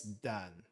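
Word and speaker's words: 男: Definitely, I know there's another pronunciation for this one. It's dan. Dan as in danshi.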